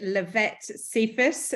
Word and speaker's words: Lavette Cephus: Hi everyone, Helena here, and I'm with Lavette Cephus. Have I pronounced that correctly, Lavette?